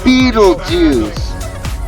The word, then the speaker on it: Betelgeuse: Betelgeuse. It's pronounced Beetlejuice.